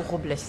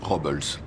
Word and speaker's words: Robles: je vais à paso robles on appelle cette ville paso dobles la prononciation adéquate et robles mais tout le monde dit rob hulse si au volley j'espère